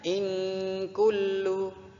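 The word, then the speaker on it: إن كل: bertemu dengan huruf Kaf Apabila ada nun mati bertemu dengan Kav maka disebut hukum bacaan ikhfa Haqiqi bacanya ingin kulluhu gitu ya Nah selanjutnya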